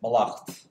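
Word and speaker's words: mallacht: the normal abstract ending, which is why we still say banacht and malacht with the stress on the second syllable.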